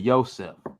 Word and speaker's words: Yosef: Yeah, like Broseph, but Yosef.